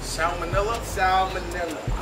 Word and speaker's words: Salmonella: Salmonella.